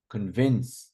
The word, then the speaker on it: convince: no I agree agree convince see second not convince convin we don't say convince I convinced him usually